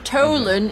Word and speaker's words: Tholen: and just to confirm Tolen is spelled t h o l e n so it's like tholen we you said Tolen